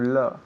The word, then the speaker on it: love: To love. Okay, muy bien. So, el verbo aquí es to love. To love. L-O-V-E, pero esa O se pronuncia como que, como si fuera una A.